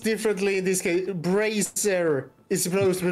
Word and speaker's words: Bracer: Bracer is supposed to be pronounced Bracer, not Brazier.